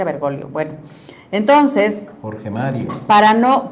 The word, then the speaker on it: Bergoglio: Dicen dicen que se correctamente se pronuncia Bergolio.